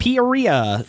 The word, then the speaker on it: Peoria: Poria, those who maybe don't know how to pronounce it.